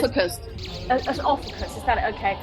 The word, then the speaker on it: Ophiuchus: I said, is it pronounced a fucus? I said, is it a fucus? And they said, Ophiuchus.